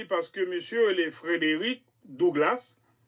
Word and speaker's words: Frederick Douglass: Et premièrement, ils ont choisi parce que monsieur le Frédéric Douglass, en anglais, oui, Douglas, ils prononcent comme ça, Frederick Douglass, et ils ont fait